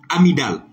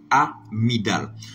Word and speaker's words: amygdale: Amygdale. En plus, le monde dit amygdale. Non, le G ne se prononce pas.